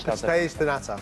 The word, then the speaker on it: Pastéis de nata: I've been so looking forward to this, John, because you're doing, I don't know how to pronounce it, pastel. Pastéis de nata. Oi! Pastéis de nata, Portuguese custard tarts, those custard tarts you get